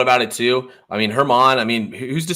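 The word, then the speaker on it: Germán: I thought it was German no Domingo Hermon you pronounce it because he's uh Latino you pronounce the uh G as an H interesting you would think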